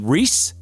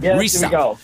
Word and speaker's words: Riese: Is it Reese? No. We Germans are very efficient and we we using all our letters and in our pronunciation like with Porsche it's Porsche actually and it's the same with my last name.